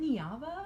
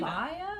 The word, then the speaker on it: Neva: Is it Niava? It's Nevia? Neva. It's Neva. Oh, they say it Neva?